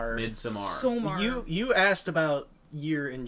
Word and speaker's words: Midsommar: I think I saw You pronounced it wrong. Midsommar.